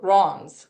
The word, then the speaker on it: Reims: You pronounce Reims as Reims, which is hard, Okay.